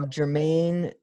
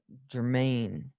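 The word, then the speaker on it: Germaine: the iron lady uh jermaine i'm not saying that right germain yeah it's just spelled with the g and it's throwing me off yeah jermaine so uh so the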